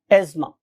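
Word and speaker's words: asthma: यानी कि अगर आप सही प्रोनाउंसिएशन सीखेंगे तो ये एज़मा है, लेकिन बहुत से लोग इसको एज़मा और बहुत से लोग इसको जोर लगा के एस्थमा भी कहते हैं, but true pronunciation is एज़मा, right.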